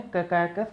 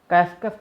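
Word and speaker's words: Caucasus: के बीच में है कैकाकस माउंटेन। कैस्कस माउंटेन भी बोलते हैं, कैकाकस माउंटेन भी बोलते हैं, जो आप प्रोनाउंस करें, ठीक है।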